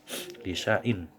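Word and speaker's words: لِشَيْءٍ: Tulisannya di situ ada alif, ya kan? Di Al-Quran kalian ada alif, namun cara membacanya seolah-olah alif itu tidak ada. Lisai'in. Lisain.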